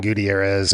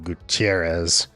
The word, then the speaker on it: Gutierrez: My sins are more like saying Tom Paciorek instead of Tom Paciorek, or Franklin Gutierrez instead of Franklin Gutierrez.